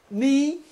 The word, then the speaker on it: knee: Knee, nosso joelho. Letras KN em inglês, jamais você pronuncia o K.